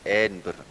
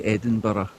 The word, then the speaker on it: Edinburgh: We Yeah, we say Edinburgh. Think Berg, but then like more throat into it. So, I think it will get better than I already did. You know, the Americans will say Edinburg or Edin Boro, but no Edinburgh.